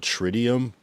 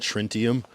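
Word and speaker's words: tritium: is that it's called tridium. T R I T. Tridium. There's no there's no N in it like that. Trentium.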